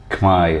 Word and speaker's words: Khmer: Just as if you look at Khmer itself, it looks like it's khmer, and that's how a lot of Westerners pronounce it, but it's actually Khmer, and the soup is